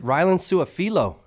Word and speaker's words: Rylen Sua-Filo: Our second Thunderbird athlete, Rylen Sua-Filo. Did I pronounce that right?